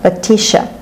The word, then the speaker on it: Letitia: T-I-A is pronounced sh, Letitia.